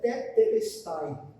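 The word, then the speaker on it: τετέλεσται: Mas palavra simples, chamada, pronunciada tetelestai.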